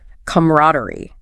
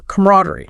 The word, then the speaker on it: camaraderie: And pronunciation wise, the video notes both are okay, but camaraderie, stress on the rad is probably more common, especially in American English.